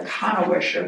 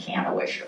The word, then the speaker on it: Kannewischer: the youngest of the kanwisher that's how it's pronounced I was I was saying Cano Wisher but it's the German kanwisher the youngest daughter would